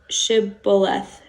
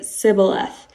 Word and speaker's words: shibboleth: they would tell him then say shibboleth but he would say sybileth because he couldn't pronounce it correctly so they would seize